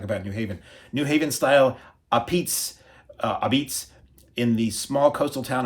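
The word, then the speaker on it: apizza: with a love for the town's beloved a pizza, pronounced Obeats. Oh, okay, Obeats. Who does the impossible by bringing... See, I always joke about it because I'm ignorant. I always say, a pizza.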